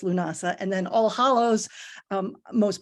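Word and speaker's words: Lughnasadh: If you are saying it in Celtic, it's Lunasa, which has all those extra letters in there, but that's Lunasa.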